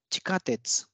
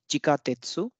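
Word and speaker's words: 地下鉄: means Metro or Subway so it's written as chika tetsu chikatetsu so now we can see according to rule one this e sound between CH and gets devoised so it becomes and here because this is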